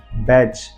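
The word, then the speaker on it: batch: आता है तो आपको वहां पर टी को साइलेंट रखना है let's see some example बैच B eighty C एच देख लीजिए टी के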